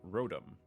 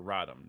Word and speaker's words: Rotom: this is actually from rotom or rodham depending upon how you pronounce it because that is a